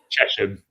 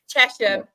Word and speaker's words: Chesham: I always get this wrong. It's Chzham, isn't it? Chesum. Chesham. Chesham United. Yeah, Chesham United.